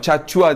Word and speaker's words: Tchatchoua: chat chaı konuşacağız arkadaşlar değişik yazılıyor t ile başlıyor Ama chat chua diye okunuyor bu şekildeydi araştırmalar sonucunda